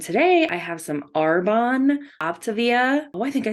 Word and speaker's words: Optavia: more reactions and today I have some Arbonne optivia oh I think I said it right that